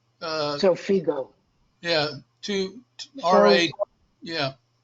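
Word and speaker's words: Xofigo: The oncologist, the radio oncologist mentioned PDL1 treatment and probably mispronounce it, Zofio. Zofigo.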